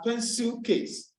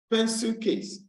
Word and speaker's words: pencil case: So for a word as pencil case, pencil case, pencil case, you realize that the stress is placed on the first word and also on the first syllable of the first word.